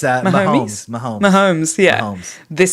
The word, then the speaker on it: Mahomes: and will anybody stop do you is it Mahomes Mahomes how do you say that no it's uh momes Mahomes momes yeah momes this season uh this